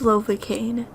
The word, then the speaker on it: Lovakengj: on gaining favor in lovacaine and yes it's pronounced lovely cane makes sense because it rhymes with pain and that's exactly what